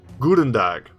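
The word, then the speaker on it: Goedendag: say it right please guten dag like a good almost like guten tag like in german i think that's german pretty sure that's german if that's not correct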